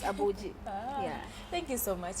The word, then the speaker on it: Abuji: my Village because yeah but now they don't pronounce they pronounce so but it's abuji yeah thank you so